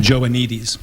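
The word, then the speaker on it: Joannides: you're going over uh George how do you pronounce his last name again joanes joanes okay um you know I studied a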